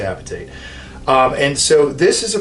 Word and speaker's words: hydroxyapatite: There's different ways to pronounce that, but I like to say apatite.